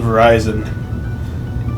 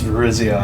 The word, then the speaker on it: Virizion: class I know this one cuz I always pronounce it Verizon and it's Virizion I mean you know my 10 yo brain